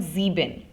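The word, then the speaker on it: sieben: German the German uh number seven is called zebin okay now zebin it just it gives you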